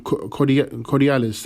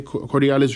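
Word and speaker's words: Corydalis: pain relief or fighting inflammation naturally is um corialis as roots fantastic for you um herbalists view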